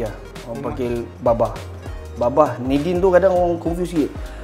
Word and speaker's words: Nadeen: Anak Baba kepada Nadine. Oh. So dia sebutan bukan Na, Ni. Nadine. Ejaan N-A tapi Nadine lah. Bukan selalu kan N-A kan Na kan. Nadine kan Nadine. Sebutan dia Nadine lah.